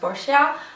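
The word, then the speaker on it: Boscia: of the brand that I really like is bosia apparently someone told me that it's supposed to be pronounced bosia I used to say BOS but whatever and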